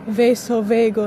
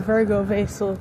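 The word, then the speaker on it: vasovagal: of what's apparently called vaso veagal not virgo vasal cuz I've been calling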